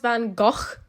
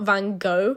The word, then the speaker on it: Van Gogh: I just found out that it's pronounced Van Gogh and not Van Gogh, so I don't know, I don't want to refilm my voiceover, so I'm not going to.